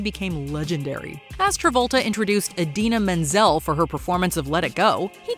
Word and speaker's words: Idina Menzel: John Travolta introduces Adele Dazeem. It's not that John Travolta simply mispronounced a name. It's that he shockingly butchered it, seemingly creating a whole new one in the process.